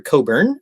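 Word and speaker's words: Cockburn: clever guy named alistair coburn spelled c-o-c-k-b-u-r-n and the c-k is silent for some reasons you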